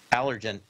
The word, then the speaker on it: Allegiant: Yeah, that's what it is, Allegiant. I don't know why. Just sometimes. See a word and you want to pronounce it the way you think it's there.